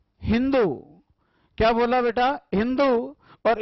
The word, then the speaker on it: हिंदू: फारसी लोग अपनी भाषा में स का उच्चारण करते थे, है। स को क्या बोलते थे बेटा? है। सिंधु को उन्होंने क्या बोला बेटा? हिंदू।